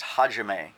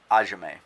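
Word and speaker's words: 始め: 6 down, begin is hajime. There's a silent H at the beginning. It's hajime, not ajime. It's kind of silent.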